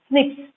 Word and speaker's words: SNP: The scientists have identified about 1.4 million locations where single base DNA differences, SNP, single nucleotide polymorphism, pronounced as SNPs, occur in human.